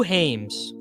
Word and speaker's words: James: Who Hames?